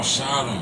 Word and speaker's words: Shotem: My bad, I don't mean to cut you off, but I people be saying my name wrong. Okay, man. It's Shot on. Oh, Shotem.